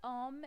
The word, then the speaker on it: homme: Un H qui ne se prononce pas. L'homme, vous voyez, homme, il commence par H qui est muet.